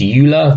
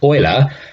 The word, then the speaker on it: Euler: after this person here you might think of this was pronounced EU love very colonists pronunciation basically because he was Swiss is pronounced Euler and with paying mind